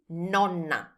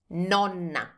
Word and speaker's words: nonna: That's nonna. Nonna.